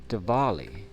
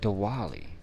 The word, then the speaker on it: Diwali: But Diwali, you pronounce the W with a V.